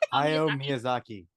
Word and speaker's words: Hayao Miyazaki: Rob, what to pronounce his name? Hayao Miyazaki.